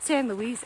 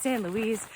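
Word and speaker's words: San Luis: trail louis peak okay i've heard this pronounced different ways i've heard stan luis i've heard sam louise heard stan louie but most recently i heard sam louie from a guy who lives in durango and that's like in the area so i figure he's he probably knows it's probably stan louie but if i'm pronouncing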